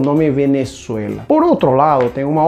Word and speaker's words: Venezuela: Olha a pronúncia em espanhol. Venezuela. Venezuela em português.